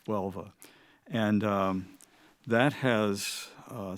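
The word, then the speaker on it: Huelva: Um the city is pronounced Welva. Maybe in Spanish it's a little different, but it's Welva.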